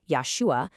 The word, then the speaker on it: Yahshua: We're going to follow this specific linguistic trail they lay out, which argues that one of these pronunciations, Yahshua, was the original, and the other, Yeshua, actually came about much, much later because of some very specific changes.